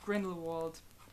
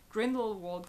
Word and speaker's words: Grindelwald: that's how it goes Grindelwald cleaned invites which is the German Way of pronouncing it my native languages German